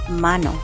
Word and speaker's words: hermano: Remember the letter H is silent. So we will say mano mana.